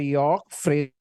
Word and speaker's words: Jörg Friedrich: York Friedrich. Is it right pronunciation or spelling, Mr.